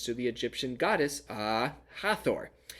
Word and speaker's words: Hathor: the egyptian goddess ah hathor not aha thor that was me being